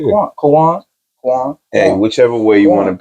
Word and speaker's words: K'wan: tell you when you say Quan, like you just said Kawan fast. That's how I say it.